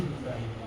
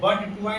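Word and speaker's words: butyne: 2 ब्यूटाइन या ब्यूटाइन 2 या ब्यूट 2 इसको बट 2 मत पढ़िएगा। बट यहाँ नहीं पढ़ा जाता, उच्चारण सब जगह अलग अलग है। नहीं, इंग्लिश है ना, अब यही इंग्लिश में ब्यूटी को क्या पढ़ते हैं आप? बट। ऑर्गेनिक में क्या पढ़ते हैं? ब्यूट।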